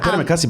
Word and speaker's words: terima kasih: Oh, no, terima kasih.